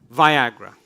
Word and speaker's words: Viagra: Viagra. Le Viagra. It rhymes with Niagara.